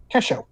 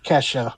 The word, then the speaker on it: Kesho: Um and her name is Kesho. Wow. Thanks, random generator. It it is not uh kesha with an O, but it literally is how it's spelled.